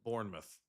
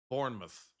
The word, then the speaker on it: Bournemouth: Bournemouth is pronounced Bournemouth. Bournemouth.